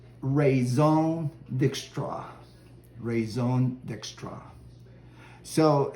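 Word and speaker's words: Raison D'Extra: So if you read the label, it looks like it says Raison Dextra. But if you're in the know, it's pronounced Raison Dextra.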